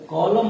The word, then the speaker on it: column: जैसे आपने देखा होगा COLUMN, इसको हम लोग कॉलम नहीं पढ़कर कॉलम पढ़ते हैं।